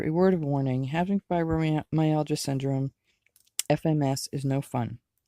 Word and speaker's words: fibromyalgia: syndrome that's my hand yeah it's pronounced fibromyalgia syndrome the word fibromyalgia is a combination of Latin roots fibro connective tissue fibers my muscle al pain and condition of which is why they